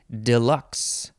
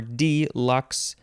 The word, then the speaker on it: deluxe: next word hi yeah Deluxe the first syllable is De Lux or D Lux you could also say what is this Deluxe Deluxe and maybe some other version of that Deluxe De Lux and I